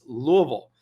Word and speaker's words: Louisville: It's Louisville.